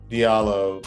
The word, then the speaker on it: Diallo: i'm like well yes it should be pronounced but uh you know my parents named me diallo i guess presumably either because they didn't know how it's pronounced or they didn't want